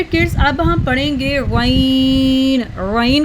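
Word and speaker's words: غين: Gain को heavy sound गले के शुरू से अदा होता है। गैन इस pronounced from the upper part of the throat, इसको हमने गैन को अपर थ्रोट से अदा करना है। इसको हैवी साउंड में पढ़ेंगे, इसमें हवा नहीं होनी चाहिए।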